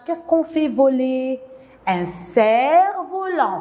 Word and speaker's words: cerf-volant: Un cerf-volant. Je ne prononce pas le F. Ils font le cerf-volant ou bien ils font voler le cerf-volant.